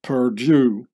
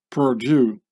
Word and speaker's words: Purdue: youth killer company is Purdue which sounds exactly as the French Perdue when pronounced by an English speaking person Purdue and Perdue with an